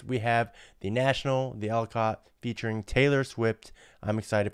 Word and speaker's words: The Alcott: The Alcott, that's how you say it, the Alcott.